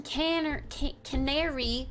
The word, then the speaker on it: Canary: Frick, I always say it wrong. The ones in Canary, like the bird, Canary, caw Wharf have those.